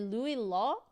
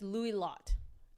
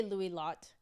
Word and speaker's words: Louis Lot: doing really well today you do pronounce the T okay so it's Lou lot okay I'm gonna say Lou lot and hopefully hopefully I